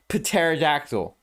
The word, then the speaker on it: pterodactyl: but we need to start pronouncing the p in pterodactyl anyway